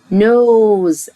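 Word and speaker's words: nose: اير اذن اير اذن نوز انف نوز الاي في الاخر ما انطقهاش والاس بتهزر عامله نفسها زد نوز انف نوز انف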